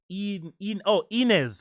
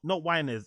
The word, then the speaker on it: Inez: AZ is pronounced Inez. Okay, Inez, not Winez.